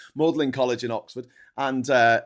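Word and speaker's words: Magdalen: Yeah, he went to Mlin College, which looks like Madlin College, but it's pronounced Mlin. We're complaining about Hungarian pronunciations. Mlin College in Oxford.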